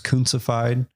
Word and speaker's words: Kuntzified: If you want to follow me on Instagram, it's Kuntzified. Can you spell that for everybody? Yes. I'll put a link down below as well. Cooncified. My last name's Kuntz, just to play on that.